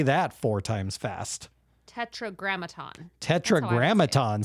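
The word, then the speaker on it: Tetragrammaton: Graton tetr Graton say that four times fast Tetra grammaton Tetra grammaton say it correctly four times fast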